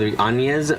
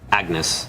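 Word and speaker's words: Agnès: Why not just name your Ana instead went flessly fancy with Anaas which is pronounced like Anya for some flipping reason uh buy something.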